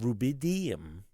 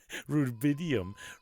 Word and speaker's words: rubidium: cooled a sample of rubidium. I put the emphasis on the wrong syllable. like rubidium. rubidium, to within a few